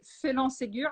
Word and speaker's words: Phélan Ségur: Because when you say Phélan Ségur, and actually you pronounce it perfectly well, it sounds very French, and especially you have on the bottle you have an accent. I know that we don't see it, but you have an accent on the E right there, so it looks very, very French.